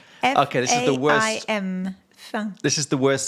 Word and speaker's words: faim: But there's no M. Where's the M? We don't pronounce it.